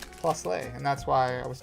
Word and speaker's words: Plusle: Plusley sounds so wrong. Plusle.